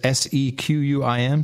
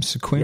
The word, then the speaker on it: Sequim: Is that how you pronounce that? Because it says S-E-Q-U-I-M, Squim, yeah, Squim? Squim. Squim, all right. Named after an Indian tribe. Newbies that show up in the area always call it Sequim.